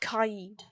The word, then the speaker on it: Kaid: both of those Bandit that Cade can do, like Actually, you Ruben, it's can't. pronounced Kaid. I know it's pronounced Kaid, but I'm gonna pronounce it Cade because it's faster.